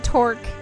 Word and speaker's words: Torque: on Team Torque. Okay. Rhymes with pork.